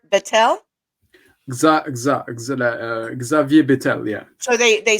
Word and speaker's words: Xavier: Luxembourg's prime minister, now tell me if I say his name right, Javier Bettel. Xavier Bettel, yeah. So they say the Yeah, X. you Okay, pronounce the X, yeah.